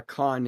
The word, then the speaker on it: Khan: How do you pronounce Khan? Do you pronounce it like William Shatner in Star Yeah. Trek 2, The Wrath of Khan?